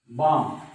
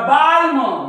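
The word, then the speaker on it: balm: म्हणे याला कालम याला बालम याला पालम पण हे कालम नाही हे आहे काम कारण एम च्या वर एल चा उच्चार होत नाही याला कोणी बालम म्हणेल हे बालम नाही बाम हे पाम नाही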